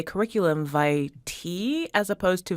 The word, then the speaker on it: vitae: of communicating for us multiple pronunciations are perfectly acceptable so curriculum V Thai is the first pronunciation that we give in our dictionary but